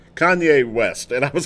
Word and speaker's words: Kanye: lately and it's it's about I called him Kayne West and I got a lot of people who are laughing at me it's it's Kenya what does it Ken yeah what's it how's it pronounced kanye west and i was called lib cade west